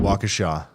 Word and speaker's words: Waukesha: non-essential uh I hope I'm saying that right wakasha or Waukesha County operations uh are closed effective at 2 30 p.m County offices will remain will reopen tomorrow at 8 A.M and it's Riley it's pronounced Waukesha Waukesha that makes sense so that's what's going on